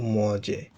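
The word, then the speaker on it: mangez: ভু দিয়ে যখন আমরা একটা সাবজেক্ট ভার্ব চেঞ্জ করব, তখন ভার্বের শেষে জেড বসে, আর এটা উচ্চারণ হবে তখন ভু মজে, ভু মজে দু হি।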